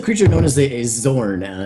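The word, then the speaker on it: Xorn: this is a creature known as a a Zorn x o r n is how you spell that um you can't really recall too much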